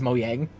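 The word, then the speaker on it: Mojang: person who pronounces because I'm the person who pronounces uh the Minecraft Publishers or the the Minecraft uh the Minecraft developer is Mo yang because that's how it's supposed to be print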